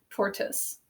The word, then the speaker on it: tortoise: We're going to put a thinking cap on top of it because it says more of an I sound. It's almost like just this O is silent, tortoise.